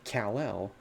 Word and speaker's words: Kal-El: clark kent specifically because if you say kal-el you're not saying the hyphen it's not it's just how it's spelled with the hyphen so realistically you know